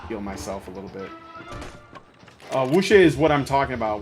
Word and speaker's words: wuxia: I'm gonna try my best to pronounce this. Wuxia?